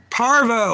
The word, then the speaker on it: parvo: Parvo. I said it wrong. I was saying Polarivirus.